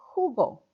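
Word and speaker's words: jugo: Li mo nada Jews who go truth Google orange orange juice who go de naranja the J is pronounced like an age in English who go de naranja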